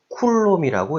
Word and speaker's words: 쿨롬: Q는 단위가 C, 쿨롬이라고 읽습니다.